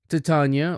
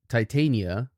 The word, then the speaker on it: Titania: Titania, or Titania, I found pronunciations on both, is the largest of all Uranus's moons, but the second furthest from the actual planet.